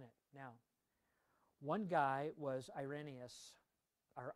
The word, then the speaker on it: Irenaeus: commentary input in it now one guy was irenius or irenaeus actually is how it's pronounced ironeous was a um second century he